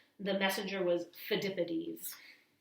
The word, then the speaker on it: Phidippides: The messenger was Phidippides. It's kind of hard to say, but it's Phidippides.